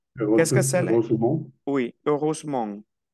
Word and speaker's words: heureusement: Oui, heureusement. Esta E no se pronuncia.